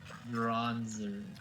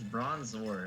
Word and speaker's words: Bronzor: bronzer with trickerman rocks bronzer it's bronzor i'm sorry or we